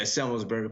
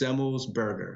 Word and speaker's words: Semelsberger: Yeah, Semelsberger. People get caught up they go Semelsberger, and then it sounds weird. So you just say it fast. Semelsberger. Right. Semelsberger.